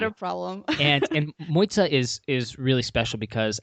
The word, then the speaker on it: Mojca: show March and please correct me if my pronunciation is way off moitza is from Slovenia correct correct okay and how